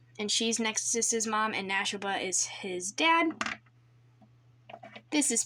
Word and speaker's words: Nashoba: poppo gray wolf and his name is Nashoba you spell Nash and then put ob-a at the end and that's how you say his name and that was how you say His Name-O anyway this is Nexus